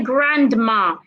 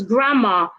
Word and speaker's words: grandma: We don't say grandma. The D is silent. It's grandma, sandwich.